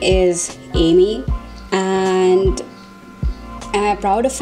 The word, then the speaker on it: Amy: for some people, it's a little difficult to pronounce, because instead of calling me Amy, they call me Ami or Ami, Ami.